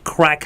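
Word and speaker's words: craic: So, crack is actually an Irish word. It's spelled as C R A I C. And it's an Irish word that means good times and good fun.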